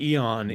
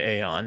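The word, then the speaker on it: Aeon: letter combination would be it's like Eon right like Eon is the correct pronunciation of what most people call the Aon including the creator of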